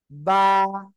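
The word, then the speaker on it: ب: ওকে, আমার দিকে তাকান, এই যে এই যে সিম্পল আপনার দুই ঠোঁট লাগানো থাকবে। এবার এই অবস্থায় আপনার কি করতে হবে, উচ্চারণ করতে হবে, বা, বা, ঠিক আছে? যদি আবার মুখটা এরকম করেন, বা, তাহলে কিন্তু হবে না, ঠিক আছে?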